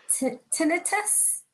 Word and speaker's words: tinnitus: Another question that I have is, would I be able to access the support service for tinnitus? Am I pronouncing it correct? Yes. Correct? Yeah, tinnitus is a type of hearing impairment.